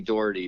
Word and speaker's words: Daugherty: yes exactly it's it's it's phonetically dirty but we think we